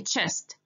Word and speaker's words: chest: it's not chest no the ch at the beginning of any english word should be pronounced as a che sound okay so we say a chest chest okay number six